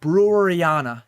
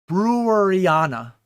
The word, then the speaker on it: Breweriana: I don't think I say it correctly, but like the word brewery, Breweriana. So you take off the Y and then you put IANA, Breweriana.